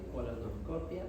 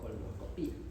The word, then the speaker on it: colonoscopia: Hay cierta disyuntiva con respecto a la pronunciación según la RAE, ¿no? Si es endocrino o endócrino, o si es colonoscopia o colonoscopía, ¿ya? O si es endoscopia o endoscopia, como dicen